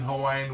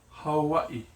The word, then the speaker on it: Hawaii: Now the W can be sounded like W, or it has one letter that also has a V. For instance, Hawaii. Yeah? Hawaii. That is how you would say it. But people also call it Hawaii. Yeah? Hawaii. So it is an interchangeable.